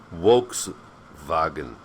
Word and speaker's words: Volkswagen: It's spelled Werther, but in German every W is pronounced like V, and every V is pronounced as a W. So it's not Volkswagen, it's not Volkswagen, it's Volkswagen.